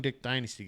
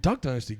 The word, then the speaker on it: Duck Dynasty: They look like the young Dick Dynasty guys. Why are we both saying it weird? Dick I Dynasty. said it right. You said it. You said Dick Dynasty. I said Duck Dynasty.